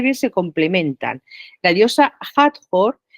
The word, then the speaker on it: Hathor: La diosa Hathor, que no se pronuncia Hathor, como la mitad de las veces se dicen, porque las H's en egipcio tenían sonido, un sonido J también, más suave que la otra de jamón, por ejemplo, pero es un sonido